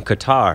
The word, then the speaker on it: Qatar: Well, what was really interesting is he had just come back from Qatar.